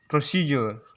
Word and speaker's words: procedure: फिर दूसरा वर्ड हम लोग का आ गया प्रोसीजर। PROCEDURE। यहाँ भी डी वर्ड को लेटर को जे प्रोनाउंस किया जैसा है, जिससे हम लोग का होता है प्रोसीजर। इसे अक्सर हम लोग प्रोसीजर करके पढ़ते हैं।